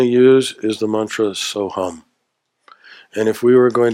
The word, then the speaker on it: Soham: And the mantra that we are going to use is the mantra Soham. And if we were going to transliterate it, we would spell it S-O-H-U-M.